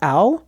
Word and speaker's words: Ao: that does it ow this is pronounced ow I say AO but I really don't I'm not confident I'll follow your example